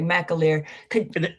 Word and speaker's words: McAleer: Representative McAleer? Is that the correct pronunciation? I hope it is. Chris, you're on mute, so. Yes, that's correct. Okay, McAleer.